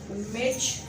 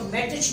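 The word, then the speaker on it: match: अगर इसमें भी आप देखो तो आप मेटिच नहीं पढ़ते, क्या पढ़ते हो? मेच पढ़ते हो। टी को साइलेंट रखा गया। क्यों टी साइलेंट है? Because it's come before CH।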